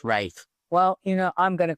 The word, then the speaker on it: Ralph: background to him and I think that's why it's it's pronounce wraith well you know I'm gonna call him Ralph he can tell me